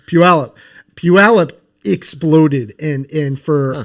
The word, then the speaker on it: Puyallup: hops as well so how do you say it again a Pula Puyallup like not even close Puyallup Puyallup exploded and and